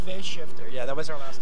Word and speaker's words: Phase Shifter: And so your album for Face Shifter. Am I saying it right? Phase Shifter.